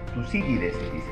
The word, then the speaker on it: Tucídides: Ajá, algunos dicen Tucídides, pero se confunde con Tucídides. Se confunde, no, o sea, tiene que ser Tucídides, dígalo a ver.